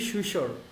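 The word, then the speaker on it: Saussure: তো চলো আমরা প্রথম একজন লিঙ্গুইস্টের নাম জানবো, যিনি হচ্ছেন যে ফার্ডিন্যান্ড ডি সুশোর। আমরা সুশো উচ্চারণ করি, আর উচ্চারণ করি না।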